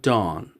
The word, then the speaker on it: dawn: Now remember that this W is silent, okay? At dawn.